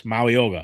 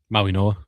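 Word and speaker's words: Mauigoa: Um so I got Mauyoga. Is that how you say your name? Maui Noah. Maui Noah. G is silent like lasagna.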